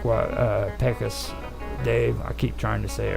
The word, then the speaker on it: Pecos: Yeah, kind of like what Pecos Dave.